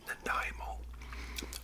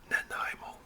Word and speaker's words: Nanaimo: I still live in right now is called Nanaimo I know it's not easy to pronounce indigenous word Nanaimo anyways so so that's where I live now and I I moved here in 74.